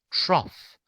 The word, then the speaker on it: trough: just as in cup whereas in trough we have a la a short o trough okay trough let's do